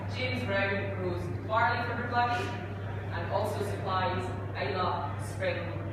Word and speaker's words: Bruichladdich: It's not Bruichladdich, it's Bruichladdich. So you pronounce the first CH, not the second CH.